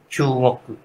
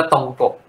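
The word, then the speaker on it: 中国: เขียน เนี่ย แหละ แต่ ญี่ปุ่น อ่าน ว่า ชูง ชูโกกุ อ่าน ตัว เดียว กัน นี่ แหละ ไอ้ 2 ตัว เนี้ย เรา อ่าน จีน ว่า ตง กก ตง กก แต่ ไป ญี่ปุ่น ตัว เดียว กัน เนี่ย เขา อ่าน ว่า ชูง ชูก อ่า ไม่ เหมือน กัน แต่ ความ หมาย มัน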